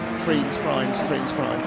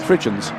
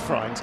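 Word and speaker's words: Frijns: That is how you pronounce Friens. Fridgens. Yeah, no, it is Friens.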